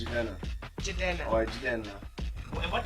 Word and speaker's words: Jidenna: No, they say, how do they say my name? I mean, Jidenna. Some people say Jidenna. What'd you say? What'd you call me? Jidenna. Oh, J-Denna. Yeah, that's interesting. Some people call me J-Denna or Denna, but it's Jidenna.